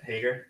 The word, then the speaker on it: Heger: Heger? Yeah, great. Cool. Like the slacks.